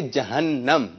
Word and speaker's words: جہنم: غور کر لیجئے کہ جہنم ہے صحیح لفظ یا جہنم؟ آپ نے جہنم بتایا, آپ کیا بتا رہے ہیں؟ جہنم. اب یہی رہ گیا تھا ایک. جی درست تلفظ ہے جہنم.